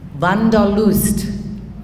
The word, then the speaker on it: wanderlust: you might have learned you heard of the word wanderlust that's actually a german word van der lust that's how they say it in germany and it's interesting you